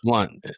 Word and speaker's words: Blount: It's pronounced Blunt. It's pronounced Blunt.